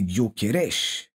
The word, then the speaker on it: Gyökeres: Là, c'est plus Avert, c'est plus Merino, c'est Guokeresch et apparemment ça se prononce comme ça.